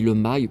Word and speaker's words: mail: On dit le mail.